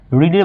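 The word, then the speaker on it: read: হবে তাহলে ভার্বের টু রিডের ভার্বের টু একেই বানান তবে স্পেলিং একই বাট প্রোনাউন্স আলাদা হবে যেমন রিড রেড রেড এমন হবে আই রেড কি বুক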